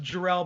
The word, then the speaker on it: Jarrell: Well, my last name is pronounced Jarrell, but a lot of people say Jarrell, so I feel you.